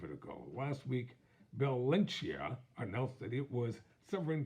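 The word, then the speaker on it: Balenciaga: name may be hard to pronounce so I'll spell it b-a-l-e-n -c-i-a-g-a I'll give it a go last week Bill lynchia announced that it was seven times with G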